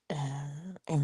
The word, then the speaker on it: yin: In TCM, the morning is most yang. You know, yin and yang is how the west would say it, but in and yang is how it's said in the east.